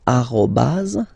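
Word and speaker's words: arobase: So arobaz.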